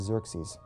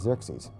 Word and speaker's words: Xerxes: His Persian name, in Old Persian, which is his original native language, is Shayarsha. Now that was hard for the Jews to pronounce, so they said Ahasuerus. We know him as Ahasuerus. And the Greeks said Xerxes, which is Xerxes, okay?